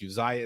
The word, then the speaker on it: Uzziah: Aaron B said it's pronounced like Isaiah, like in the Bible, just spelled differently. Yes, Uzziah is a biblical name, just like Isaiah is.